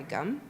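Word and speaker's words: gam: So you know if if doesn't feel good and you want to try gum, that's also works. It's spelled G- A M but it sounds like gum.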